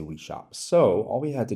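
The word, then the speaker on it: Oui Shop: called We Shop, and it's spelled like this, you know, the French we and then shop. But because your persona is speaking English, in most cases, it's going to pronounce it like O-U-I shop.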